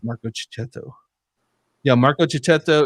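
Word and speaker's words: Marco Checchetto: getting his name right say his name wrong it's Marco chetto yeah Marco chetto it's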